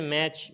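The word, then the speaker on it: match: जैसे बैच, बैच के अंदर TCH है, TCH है तो यहाँ पर क्या होगा, टी साइलेंट हो जाएगा। इसी तरीके से मैच, मैच के आखिर में TCH है तो यहाँ पर भी टी क्या होगा, साइलेंट हो जाएगा।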